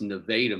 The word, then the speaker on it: Nevada: Well, actually, I spent some time there because it's Nevada, Missouri, because that's down near the Ozarks, and that's just how they say it.